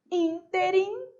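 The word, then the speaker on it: ínterim: Interim, sílaba tônica é o in.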